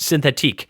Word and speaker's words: Synthetique: Also, I can think of a certain shapeshifter from real comics where the readers unanimously pronounce the eek in the name like eek and not ick. It's definitely pronounced synthetique.